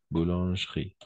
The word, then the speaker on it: boulangerie: boucherie beau blanche riz boulangerie voilà le E on ne prononce jamais le E on se supprime on